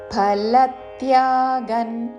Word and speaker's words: ఫలత్యాగం: కర్తుం మద్యోగమాశ్రితః సర్వ కర్మ ఫలత్యాగన్, మహాప్రాణాక్షము ఫ, ఫా కాదు, ఫలత్యాగన్, ఫలత్యాగన్ అని కాదు, లా మీద ఆఘాతతో ఫలత్యాగన్, అనుస్వారము తావర్గంలోని అనునాసిక న్ ఉచ్చారణ.